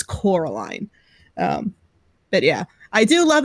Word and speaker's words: Coraline: Also, Noah was wondering, Bliss, are you gonna do a review of Caroline?